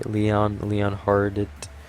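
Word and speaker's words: Leonhard: Don't really Leon Hart. Leon Hart. I'm pretty sure you don't pronounce the D.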